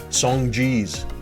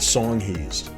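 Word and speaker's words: Songhees: in an area called this which i've heard pronounced as song jeez the song jeez uh this is the song he's the song he's there was a killer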